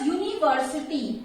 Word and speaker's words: university: U is vowel, but it does not produce the sound of vowel. It produces the sound of Y.